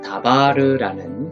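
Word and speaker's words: דָּבָר: 그래서 다바르 이렇게 발음하시면 되겠습니다.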